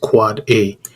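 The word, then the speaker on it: AAAA: so is a for A's so it is pronounced quad-a it is actually the ipv6 address record so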